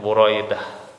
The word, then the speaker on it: Buraidah: Buraidah dengan mendomahkan huruf pertamanya yaitu huruf ba ya, dan memfathahkan huruf kedua yaitu huruf ra. Ya, cara bacanya Buraidah adalah Ibnu Shoaib bin Al-Harith Al-Aslami, seorang sahabat yang terkenal ya, Buraidah.